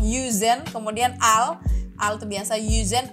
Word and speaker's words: yüzen: Jadi kalau yang ada titik 2 di atas pokoknya bacanya mulutnya harus monyong. Jadi misalkan kan kalian mungkin bacanya yüzen kan, tapi harusnya dibacanya yüzen. Jadi bibirnya monyong. Yüzen, kemudian al itu biasa